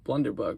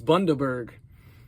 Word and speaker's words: Bundaberg: Blunderbug, oh my gosh. I always say it wrong. It's Bundaberg, but it's really good.